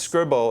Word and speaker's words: Scriball: So how can people who face similar challenges use Scriball to, and is it Scriball or Scribble? It's Scribble. It's spelled S-C-R-I-B-A-L-L.